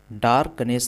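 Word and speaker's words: darkness: यहां पर देखिए जो आपका आर है प्रोनाउंसिएशन में वह साइलेंट होगा यानी कि र साइलेंट होगा। तो इसे पढ़ेंगे डार्कनेस। डार्कनेस नहीं पढ़ेंगे बल्कि डार्कनेस। डार्कनेस।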